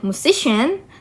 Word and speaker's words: musician: And then musician. The suffix chen attracts the stress on the to the preceding syllable.